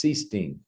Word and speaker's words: Sichting: No, the easiest way that I've always done it is I say it rhymes with bee sting. If you get stung by a bee, and so it's Sichting.